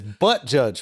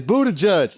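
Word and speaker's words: Buttigieg: you know it's Buddha it's butt judge right no it's Buddha judge it's spelled but judge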